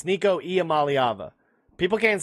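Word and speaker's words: Iamaleava: It's Nikico Amalyava. People can't say his last name apparently. Amalyava. Nikicoava. That's the best pronunciation.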